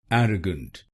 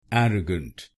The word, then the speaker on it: arrogant: er a g n arrogant arrogant and here you have to put stress on the first syllable i.e.